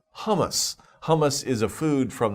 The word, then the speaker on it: hummus: good food for you so it's interesting hummus h-u-m-m-u-s hummus oh yeah that's a food okay so be careful with these words pronunciation and don't get it mixed up with